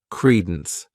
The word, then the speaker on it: credence: next noun is Credence this word has two syllables and the stress is on that first syllable Credence what it means is